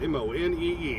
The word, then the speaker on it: Monee: I'm pretty sure that's how it's pronounced. M-O-N-E-E. How else would you pronounce that? Monee.